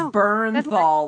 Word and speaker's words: Bernthal: It's just it's Bernthal, like burn and thaw.